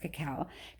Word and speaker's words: cacao: or four cacao beans sorry it's pronounced cacao cow beans a year oh how